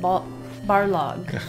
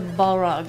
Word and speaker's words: Barlog: Although his name is actually pronounced Barlog. But I switch it to Balrog, and I can't easily go back.